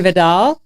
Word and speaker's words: Vidal: Today I have in studio the founders of Kookaburra Coffee, Megan Vidal, who pronounces her name like Vidal Sassoon, and Spencer Hooker.